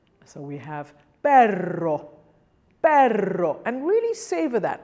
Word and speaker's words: perro: And then when you have a double R, you need to roll it quite a lot. So we have perro, perro, and really savor that because it gives it the Spanish feel.